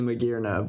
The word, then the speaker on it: Magearna: It's hard to suss out how to pronounce it unless you think, oh, it's because it has gears.